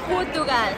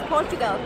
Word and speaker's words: Portugal: now I'm realizing that the Portuguese people pronounce their country Portugal. I thought it was Portugal. In Denmark we say Portugal.